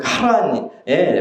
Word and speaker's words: 하란: 아브라함은 하란, 그 아들 이름 하란이랑 달라요. 이건 카란이라는 발음에 가까워요. 원래 그 카란에 머물고 있었어요.